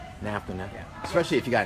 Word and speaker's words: NAFTA: Well, I think it sounds a lot like NASA. NAFTA.